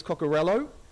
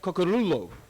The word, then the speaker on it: Cocorullo: when I grew up, my name was Cocorello. So the strange thing is, when I tell my family in Italy, they turn around and said, no, that's wrong. You say it Cocorullo. Pronounce the vowels.